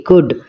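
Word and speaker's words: could: ও ইউ এল ডি কুড এখানে এল এর উচ্চারণ কিন্তু হচ্ছে না তাহলে এই এল টাকে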